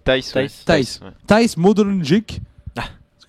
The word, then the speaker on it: Thijs: Comment on le Euh, prononce Thijs. ouais. Thijs.